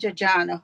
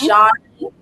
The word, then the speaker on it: Ajani: Decarteret College, Ajana, Mikael Reed, Ayoan Brown, and Reserve Shade Fritz. Now, when you get Excuse me, all of those pronunciations are wrong. It is those names, Ajani.